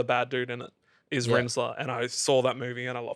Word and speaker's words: Rinzler: Because I think I was calling it Rizler, like the Rolly papers. Ah, right. Yeah, you were. But it's Rinzler, which I stole that from Tron Legacy, so that was cool.